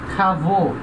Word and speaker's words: travaux: Nesse caso, a gente vai ter a mudança da pronúncia. Então, cheval, plural, chevaux. Vaux, o. Travail, plural, travaux.